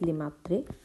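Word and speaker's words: Lemaître: If I am pronouncing it right, it is Lemaitre.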